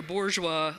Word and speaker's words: Bourgeois: here to present your Bourgeois I've been told that there's a that you got to pronounce that R it's important and it's my job